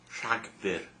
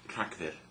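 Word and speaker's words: Rhagfyr: last but not least December is track so that's quite hard to pronounce as well trackir okay so there we go months of the year so now you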